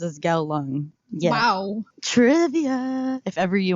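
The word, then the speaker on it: Kowloon: I was searching it on YouTube and it's pronounced as gal lung yeah trivia if ever you want to go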